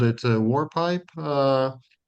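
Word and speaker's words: mór: So in Irish Gaelic the word vor is pronounced war.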